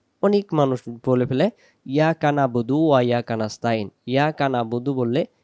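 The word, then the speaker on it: نَعْبُدُ: জবর না বাব পেশ বু দাল পেশ দু নাবুদু নাবুদু নাবুদু যদি বলি নাবুদু ইয়াকা নাবুদু আইন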